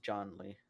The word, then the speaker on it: Zhongli: we go with Not that for a Zhongling. gift? Not John Lee. It's John Lee. That's his name, John Lee. It's not Zhong Li. It's John Lee.